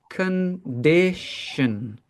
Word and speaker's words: condition: condition right condition so here again the stress is on the middle syllable this dish right this has the stress the first two the first and the last are not stressed condition condition yeah that's the